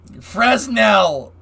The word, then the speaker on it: Fresnel: Fresnel! Fresno is a city in California, damn it. Yeah, it is a French name. They always have more letters than they need.